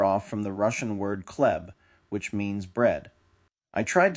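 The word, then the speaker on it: хлеб: Bread in Russian begins with the cerillic X, which is pronounced kh and sounds similar to an H.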